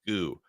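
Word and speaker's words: 구: sheet and one day to pronounce the number nine in Korean is goo and so they called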